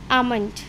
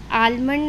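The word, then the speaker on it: almond: करेंगे पाम काम बाम आमंड आलमंड नहीं होता है आमंड होता है आमंड ठीक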